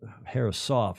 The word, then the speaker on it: Herreshoff: The Herreshoff Herreshoff is how the locals pronounce it.